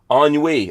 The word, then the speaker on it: ennui: Ennui. Yeah, Ennui. Ennui. I can't pronounce things.